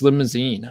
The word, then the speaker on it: Limousin: um it's actually pronounced limousine i was surprised yeah it doesn't look like it because there's no e at the end but it is for